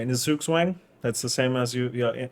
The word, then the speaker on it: Zugzwang: It's in the how do you say in the Zugzwang. That's the same as like in chess. Yeah. Zugzwang, Yeah.